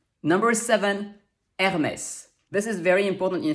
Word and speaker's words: Hermès: to be pronounced a otherwise that e would be totally silent and so would the final s so thanks to this accent we know it's pronounced hermes number eight eve this